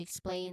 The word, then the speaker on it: explain: Could you explain that? The stress on the second syllable of explain, it highlights the action that you're requesting.